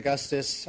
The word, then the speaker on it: Augustis: Augustus. A Oh, Augustus. Oh, that's a G. No, I'm just kidding. Uh yes, thank you for uh having me. My name is Augustus.